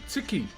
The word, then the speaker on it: tiki: So, this is called a ticky. T I K I is how you spell it my brother.